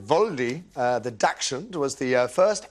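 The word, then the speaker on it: Waldi: Yeah, Waldy, I think you'd pronounce it Voldy.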